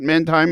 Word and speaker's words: Mindheim: Is it Mindheim?